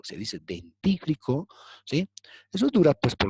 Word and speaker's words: dentífrico: dental con un dentífrico no se dice dentífrico se dice dentífrico Sí eso dura pues